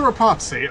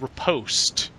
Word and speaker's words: riposte: And that's a Rapazzi, also known as a fuck you up really hard stab because you got parried, bitch. I was pretty sure it's pronounced riposte.